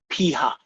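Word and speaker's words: p̂: We call that p hat.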